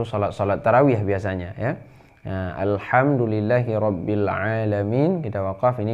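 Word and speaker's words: الحمد: Yang kedua, kita baca alham ha ya, bukan kha, bukan al-kham, bukan kham tapi ha. Ada ha, ada ha. Ya, ini cara bacanya alhamdulillahi rabbil alamin.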